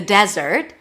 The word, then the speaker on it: desert: Let's go to the desert. The desert is so beautiful in the winter. Desert stresses on the first syllable, and dessert.